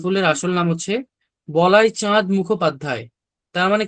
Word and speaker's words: মুখোপাধ্যায়: এই যে মুখোপাধ্যায়, এখানে তো উচ্চারণের সময় দ আসতেছে উচ্চারণের টাইমে, কিন্তু আমরা কি করতেছি, দ এর কোনো ছিটা ফোটাই আনতেছি না।